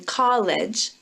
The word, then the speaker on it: college: I want to mention College College has three vowel letters but only two syllables college college when a word ends in an e that E is not pronounced unless it goes with an L there's an exception